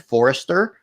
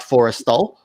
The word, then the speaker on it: Forrestal: pronunciation the the ship I said was a combination of Nimitz something else and Forester not Forrestal and you that's such